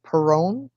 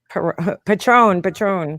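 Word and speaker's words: Patrón: Perone? Patron. Patron. Yes, I'm Um, alcoholic hero pugs. You can't even pronounce the name of tequila.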